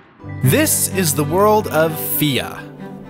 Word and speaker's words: Fe: This is the world of Fia. At least I think it's pronounced Fia. People keep wanting to pronounce it Faye online, but Wikipedia is pretty emphatic about my pronunciation.